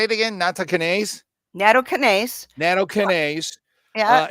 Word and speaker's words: Nattokinase: Nattokinase?